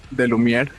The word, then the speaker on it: De Lumière: Okay, they are from the band NEBULAE Come Sweet, a Belarusian band who just recently released their second album, De Lumière. I hope I'm pronouncing correctly the name.